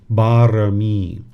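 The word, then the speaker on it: บารมี: It's pronounced barami.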